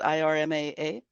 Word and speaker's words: IRMAA: Tell us about IRMAA. Is that how you pronounce it? IRMAA? Yeah, it is a plan that is based on an individual's income.